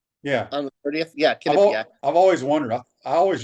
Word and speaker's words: Quinnipiac: What, Quinnipiac? Yeah. On the 30th? Yeah, Quinnipiac. I've always wondered. I always used to call them Quinnipiac. Yeah. And I guess the Q is kind of like a K, apparently.